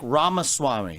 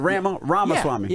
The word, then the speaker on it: Ramaswamy: Yeah, it's like Ramaswamy, like CD-ROM, but yeah. Well, I said Ramaswamy. Yeah, you got it. Ramaswamy.